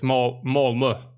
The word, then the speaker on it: Malmö: Malmö. I think that's the way you pronounce it. No, it's Malmö.